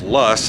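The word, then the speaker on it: Loess: Los pronounced Lus, I guess I've been saying it wrong my whole life, rhyming with bus, so the Los Hills,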